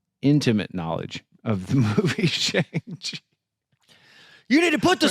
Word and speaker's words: Shang-Chi: And then they're immediately going to tell you, that's not how you pronounce it. It's Shang-Chi. It's actually Shang-Chi.